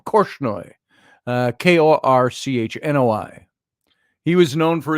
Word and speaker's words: Korchnoi: Let's see, how do you pronounce his name? Korchnoi.